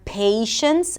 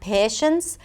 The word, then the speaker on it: patience: Like 'la(y)te' or 'pa(y)tience', and not 'patience', 'pa(y)tience'.